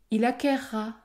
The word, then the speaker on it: acquerra: je courrai je courrai il acquerra il acquerra tu concourras tu concourras dans ces trois verbes j'ai prononcé un r double cela permet par exemple